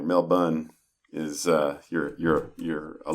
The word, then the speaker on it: Melbourne: You saw If you say Mel Burn, they know you're an outsider. Mel Bun is uh you're you're a local or at least you know how it's pronounced.